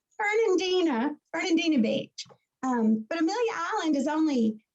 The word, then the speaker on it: Fernandina Beach: about how to pronounce it and how to spell it. Yes, Suzanne Hudson, she sends me stuff, and she sends it to Fernando Beach, Florida, and he comes. I laugh because it's Fernandina Beach.